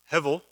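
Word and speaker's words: הבל: passage so uh she bore his brother uh hevel that's how you pronounce it hebrew means vapor like here today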